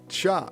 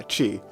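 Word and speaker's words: ち: Cha. No. Chi chi chi. Not cha chi. Just chi.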